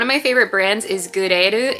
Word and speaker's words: GRL: One of my favorite brands is Gureru. It's spelled GRL.